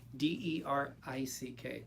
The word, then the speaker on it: Derick: It's Derick. So it's a British sounding way of Derick. It's Derick. Hello, Derick. That's how you pronounce it.